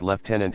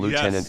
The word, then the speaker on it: lieutenant: Dev said especially when it's pronounced leftenant in the UK and lieutenant in the US uh they did that